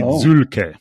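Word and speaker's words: Zühlke: your firm uh it's it's actually a Swiss name it should be zul oh there we go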